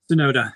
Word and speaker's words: Tsunoda: So Yuki, how do you pronounce his last name? Is it Tsunoda? Tsunoda, exactly. Okay, right.